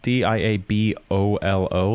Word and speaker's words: Diabolo: It does, but it's spelled Diabolo, like a bolo, Diabolo. Whereas Diablo in Spanish doesn't have that second O. It's just Diablo.